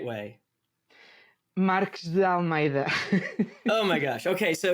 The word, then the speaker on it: Marques de Almeida: Marques de Almeida. Oh my gosh. Okay, so you mentioned did I do okay? Marques da Almeida.